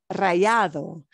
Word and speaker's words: rallado: Grated cheese is rallado. Es un queso rallado. Rallado se escribe R-A-L-L, ¿sí?